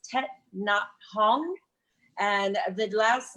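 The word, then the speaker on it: Thích Nhất Hạnh: It's pronounced Tet Nhat Hanh.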